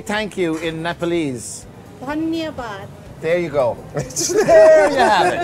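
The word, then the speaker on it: धन्यवाद: Dhanyabad.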